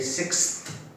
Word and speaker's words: sixth: Remember, when you say the 6th, you say sixth. Have a th sound at the end.